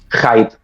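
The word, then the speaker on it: Haidt: Vuélvanos a decir el título para para lo poner generación ansiosa de Jonathan Heide, que se escribe H a IT.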